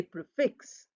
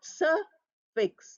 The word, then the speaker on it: prefix: form of a sentence we say prefix fix R is small fix is big S fix not sir fix not Sir with stress so these are the